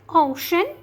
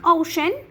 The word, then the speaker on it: ocean: okay for example like ocean financial special precious okay so when the c sound has two or more vowels we pronounce it as sh okay like ocean financial special and precious